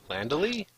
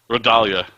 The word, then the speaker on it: Rodalia: How do you say her name again? Landely? No. Your wife's name? Rodalia.